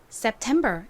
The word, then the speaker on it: September: 자 발음이 어떻게 되나요 9월은 September 이죠가 이렇게 가장 앞에 오고 뒤에 모음이 오면 거의 쌍시 옷에 가깝게 발음이 나고 2는 에 소리로 쓰였어요 그리고는 비읍 받침으로 들어갑니다 셉 다음는 티 소리이는 또 a 소리로 쓰였고은 미음 소리 끝에 be B 소리가 나죠가 비읍 소리 나고 이이 R 소리 나니까요 sept 자 6월부터 또 발음해